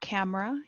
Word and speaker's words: camera: The word camera, you don't say the E.